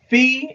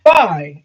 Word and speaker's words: Phi: what are they call the um Omega side fee it's Fe by the way if you read this is how this is the power of reading it's not fi it's fee Phi is Fe it's pronounced Fe